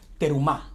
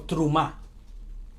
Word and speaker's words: Terumah: hoy vamos a estudiar se llama perú más o truman más bien sería la pronunciación más adecuada entre oyó y esto